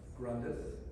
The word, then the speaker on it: Grandrith: And they will be talking about Lord Grandrith.